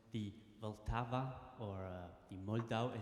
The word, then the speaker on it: Vltava: of nationalities here, so he can tell us how it's pronounced correctly. Radovan. Vltava.